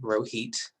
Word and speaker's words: Rohit: But my name is Rohit Prasad. It is pronounced like you're rowing a boat, and it's hot outside. Rohit, that is like my go-to intro.